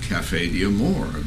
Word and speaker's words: Caffe D'Amore: And we called it Caffe D'Amore, in the American pronunciation.